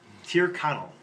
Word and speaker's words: Tyrconnell: How do you pronounce it? Oh, sorry. Tyrconnell.